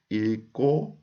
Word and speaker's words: 읽고: 읽고 싶어요. Here also, I pronounce 일, and when 그 goes up, it becomes 고.